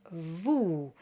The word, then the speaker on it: vous: We have oo in vous, just like you.